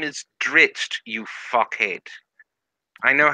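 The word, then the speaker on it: Drizzt: The name is Dritzt, you fuckhead. I know how to pronounce it. It's not Drizzit, it's Dritzt.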